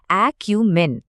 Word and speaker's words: acumen: উচ্চারণটা হবে একিউমেন।